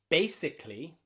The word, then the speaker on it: basically: In words like basically, that final A, we can't see it. It's gone. Basically.